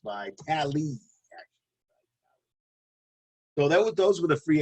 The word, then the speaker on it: Vitale: defensive back Adrian Phillips, and fullback Dan Vitale, pronounced Vitale.